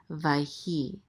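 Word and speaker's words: ויהי: This shava is going to be silent. It's usually silent in the middle of a word. So we're gonna let this yud close out this syllable right here. So this is vai, and this is a hey with a chirik and the yud together. This says e, so this is he, vayhi, and this is related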